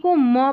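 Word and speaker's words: comb: यहाँ पर देखिए MB को म पढ़ा है, क्योंकि B यहाँ पर साइलेंट है।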